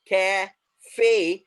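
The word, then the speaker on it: café: The sound will be at the end A. A, it is going to stretch the sound. A, uska sound वहां पर खिंच जाएगा. A, cafe.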